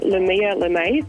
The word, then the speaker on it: Lumia Lemae: So my Instagram handle is Lumia Lemae, so it's spelled LUMIALEMAE. Wavelength, sparking the convos about Adelaide you should be having on Fresh 92.7.